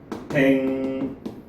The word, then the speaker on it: 백로: 자, 백로 같은 경우에도요, 발음이 백노 요렇게 발음이 되죠.